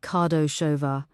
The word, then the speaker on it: Kardasova: Also, I want everything you can find on a woman named Barbara Kardasova, pronounced Kardashova.